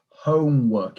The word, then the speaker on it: homework: of this word it's homework it's an o sound homework some people were saying homework it's hoe homework it's an o sound so your mouth is nice and wide exactly that's perfect brilliant